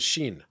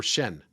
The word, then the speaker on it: Shen: into yin yang and shin or Shen as it's pronounced in Chinese it's Yin Shenyang what's